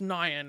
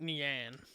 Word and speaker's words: nyan: iron cat and yes it's pronounced nyan and not nian no other like reference